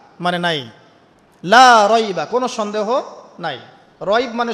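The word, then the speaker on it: لا ريب: সন্দেহ লা মানে না লা রাইবা কোন সন্দেহ নাই ফিহি এর মধ্যে মানে এই কিতাবের এখানে লা এর উপরে কি মদ আছে? লা এর উপরে কি মদ আছে না? লাকে টানতে হবে না?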